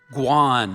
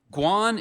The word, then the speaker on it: guan: Oi Paloy is spelled H O I P O L L O I Guan. Can I have the definition? Guan is a noun any of various large tropical